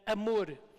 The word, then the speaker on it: amor: And in Portuguese, love, it's said amor, which is like humor. Amor e humor. So it rhymes.